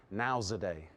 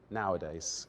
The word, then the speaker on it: nowadays: I just heard one really typical pronunciation error that happens a lot in Vietnam, and that is nowzaday instead of nowadays.